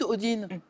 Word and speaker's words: Odin: pour acquérir la connaissance Odin mais vous me dites Odine pourquoi parce que les les deux s dis oui c'est le ouais c'est en suédois j'apprends le Suédois aussi